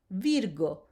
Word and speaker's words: virgo: The hard G as in go, the rule is that